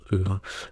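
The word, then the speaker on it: Å: Alors, c'est marqué A, ça se prononce E, dans les îles Lofoten, et c'est vrai.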